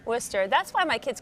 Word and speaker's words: Worcester: wart sister my worst sister yeah but it's Worcester Worcester that's why my kids call it Worcester sauce